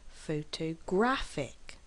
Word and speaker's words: photographic: second syllable f photographer photographic has four syllables as well but we stress on the third syllable photographic now I am actually